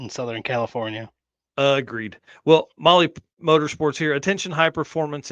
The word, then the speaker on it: Mahle: And for the podcast listeners and everybody else out there, Molly is spelled Mahle when you're doing that search.